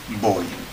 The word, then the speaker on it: voy: But of course in Spanish, as you know, the pronunciation is no different between the B and the V. So, In standard Castilian. yeah. So, voy, V-O-Y.